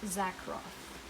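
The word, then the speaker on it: Zakroff: laura tempest tsar zack roth sorry laura tempest zack roth okay i wanted to make sure that i you know pronounced her name correctly this is a deck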